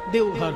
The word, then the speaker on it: দেওঘর: দেবগৃহ, সেখান থেকে বাংলা হিন্দিতে দেবঘর, তারপরে এখন বটা ওতে পরিণত হিন্দি উচ্চারণে দেওঘর হয়ে গেছে।